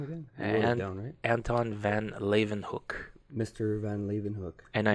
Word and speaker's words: Leeuwenhoek: pronounce his name cuz if you you see his name it doesn't sound anything but it is Leeuwenhoek and for the first